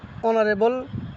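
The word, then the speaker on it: honorable: কি যদি বাউল হয় মনে করেন এখানে ছিল অনারেবল মিনিস্টার তাইলে বলতে হবে কি এনবল কারণ ওই যে এরপরে অর উচ্চারণ হচ্ছে মানে ও মানে ওর উচ্চারণ তাইলে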